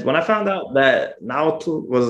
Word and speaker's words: Nahuatl: It's called Nahuatl. That's the one. They have like this tricky TL sound at the end. It's like, you know, it's like breathing into your front teeth or something.